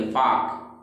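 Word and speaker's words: folk: फाल्क नहीं पढ़ेंगे, फाक।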